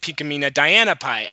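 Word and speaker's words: Pinkamena Diane Pie: what was Pinkie Pie pinkamina dying pie oh yeah exactly except I pronounce it pinkamina Diana pie and no one who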